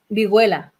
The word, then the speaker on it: Vigüela: And the band Viguela.